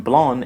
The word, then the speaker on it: blanc: in Italian vino Bianco in French van blown here the final C is silent so the last sound